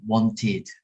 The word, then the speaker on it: wanted: So if it ends with a T or a D, like in want, you have this id sound, wanted.